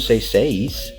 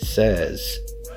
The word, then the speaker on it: says: pronounce it say but when we add an S to it it changes we don't say say we say it says so this one you